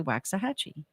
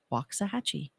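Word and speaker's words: Waxahachie: look at the sign people say waxah hatchee but I've learned to say waxahachi because it's the correct way to say it I'm so proud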